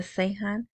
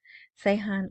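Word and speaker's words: Ceyhan: calls on Baghdad to open the Sean that's how uh sadani pronounces that Sean oil export pipeline so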